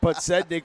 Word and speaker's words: Podznik: I think that's better than how I pronounced it the first day. Podznik for sure.